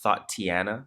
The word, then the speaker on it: Thotiana: What's the pronunciation of it? Is it Thotiana?